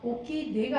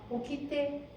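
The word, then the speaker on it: 起きて: 약간 떼로 하셔야 돼요, 여러분. 이 발음 많이 틀리니까 오키네가 아니라 오키떼 정확하게 떼로 하셔야 됩니다.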